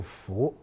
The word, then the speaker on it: 斛: 咁但係咧，佢就話殼咧有第二個發音啊，叫做斧，咁啊叫做斧斗。